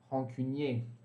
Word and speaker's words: rancunier: Rancunier. No feminino... No feminino, a gente vai falar rancunière, tá bom? Rancunière. No plural, esse rancunier vai ficar com S, mas a gente não vai pronunciar.